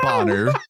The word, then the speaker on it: Boner: is Christy Bonner, but her last name is spelled Boner. So, but they pronounce it Bonner, so we're gonna call it Bonner, and we're gonna be adults about it, right, Juan?